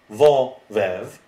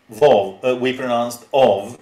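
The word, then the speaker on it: ով: For example, ov, vo, vev, we pronounced ov and not vov.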